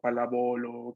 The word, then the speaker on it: pallavolo: Ah, entonces, palábolo, así se Pallavolo. pronuncia.